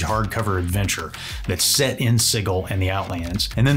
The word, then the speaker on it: Sigil: The box set includes Sigil and the Outlands, and yes, apparently it's pronounced Sigil.